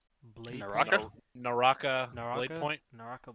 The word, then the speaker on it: Naraka: How's this pronounced? Nakara Blade Point? Naraka?